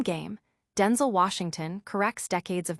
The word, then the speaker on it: Denzel: Washington set the record straight, stating that the correct pronunciation is a more concise, Denzel, featuring a short L sound, similar to the end of the word able.